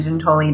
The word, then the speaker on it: Giutoli: So it's Giutoli, like Okay. the month June. Giutoli. Giutoli. Now, if you're in Italy, it's Giuntoli, but we're not. So you don't just walk around introducing yourself as Giutoli?